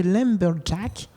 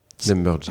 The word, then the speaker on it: Lumberjacks: sommes avec Antoine de Lumberjack. Lumberjacks. Ah, excusez-moi, et Lumberjacks. Non, mais il y a un S, en fait, il est jamais prononcé.